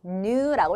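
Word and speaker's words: ν: 여기 되게 V처럼 생겼는데 nu라고 읽어요.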